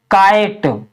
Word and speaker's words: kite: तो इसको हम पढ़ेंगे लाइफ, KITE, यानी के से लिखेंगे क, और आई से लिखेंगे आ की मात्रा और ई, और टी से ट, और ई का हम उच्चारण नहीं करते हैं। तो इसको हम क्या पढ़ेंगे? काइट, HIDE, hide, LIVE, live,